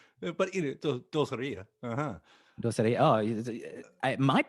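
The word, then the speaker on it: Dulcería: Am I saying it right? Dulceria? Is it Dulceria? Dulceria. Dulceria. 50-50 shot, and I went the wrong way. Casi, no, es casi, Dulceria. Dulceria. You just put the accent in the wrong place.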